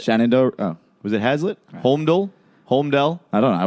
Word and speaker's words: Holmdel: Holmdel? Holmdel? I don't know. I wasn't there. How do you say that? Holmdel? It's a Homedale. Holmdel? Homedale. Hold on Dale? Hold my Dale. Homedale.